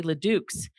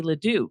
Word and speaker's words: Ledoux: in Las Vegas area, we say Ledoux's, which is completely incorrect, but that's how they say it. Yeah. But if you're from the other side of the mountain, like the Espanola or the Taos ones, they say Ledoux because they do it correctly.